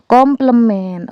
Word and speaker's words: komplemen: Yang keempat, L union M itu adalah K komplement. Oh iya teman-teman, jadi kalau ada A pangkat C itu bacanya adalah komplement.